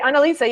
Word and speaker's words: Annalisa: You said it right, Annalisa. Yeah, you said it right. Okay, I'm just in not Spanish, that smart. It's actually it's like if you put it together, Annalisa means analyze.